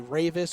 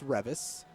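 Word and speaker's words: Reavis: a v i s looks like it should be Ravis or revas but it's not it's Revis at least that is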